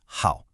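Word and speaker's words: 好: This character is how and you pronounce it how.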